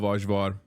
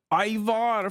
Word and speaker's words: Ajvar: Dude, I love Ajvar. And for the chatters correcting me on the pronunciation, I don't give a fuck. That's how you say it in Turkish. Ajvar. Ayvar, for fuck's sake.